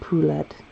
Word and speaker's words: poulet: I'm still figuring out, like, color scheme-wise what I want for Gonzo and Poulette. If you know what Poulette means. It's actually poulet, but Americans pronounce it a little bit more like pullet.